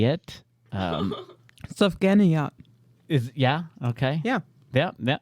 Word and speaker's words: Sufganiyot: But there is a word I don't know how to pronounce it. That's why I did not say it. Sufganiyot. Yeah, okay. Yeah. Yeah, it's Sufganiyot. Confident. That's- Sufganiyot.